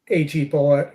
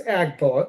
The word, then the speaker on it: AG Bullet: the 5 AG Bullet, who may also be known as Ag Bullet, depending on your pronunciation there, but apparently it's AG Bullet, even though the G is small. So that to me, that's Ag, but I digress into